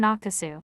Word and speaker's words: Akesu: call the terum Basin written akasu pronounced akasu by Tom akasu is in shinjang